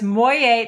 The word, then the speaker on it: Moyet: So it's Moyet, that's her last name. Moyet Rosé, which of course, like how perfect that you have the last name that rhymes with the wine.